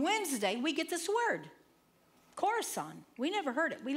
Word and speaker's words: Khorasan: One day, we're sitting, we're having our prayer, and Max reads this word, and he can't pronounce it, and he spells it. Khorasan, yeah.